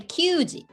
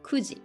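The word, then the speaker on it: 九時: have to be careful we don't say yondi or cd for four o'clock it's just one way yoji for nine o'clock um we don't say qg we have two options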